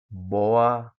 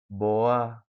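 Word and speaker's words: boğa: Ee bagaimana cara bacanya? Boa. Boa. Ya. Jadi seakan-akan dia itu tidak ada boa.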